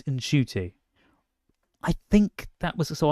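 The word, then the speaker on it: Ncuti: this entire time so it's not shooty it's in shoy I think that was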